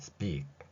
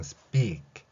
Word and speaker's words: speak: 여기서부터 이렇게 되어 있다면 앞에 스피 부분은 좀 강하게 나겠죠. 그리고 키읔은 약하게. 그래서 speak. 이 소리를 여러분들이 낼 수 있게 된다면 실제 어디에서 듣건 실제 발음을 들어보시면 특히 미국인들 경우에는 speak이라고 발음하는 것을 들을 수 있을 것입니다.